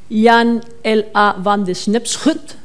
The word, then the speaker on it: Jan L. A. van de Snepschut: But in this case, the actual quote was by this guy, which I'm told is pronounced Jan L. A. van de Snepschut.